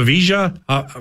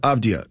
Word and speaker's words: Avdija: there and stuff, but I didn't want to butcher the Avija. What? The AV with the weird J? So, like, we're talking about that game here. Denny Avdija? Avdija? Yeah, Avdija.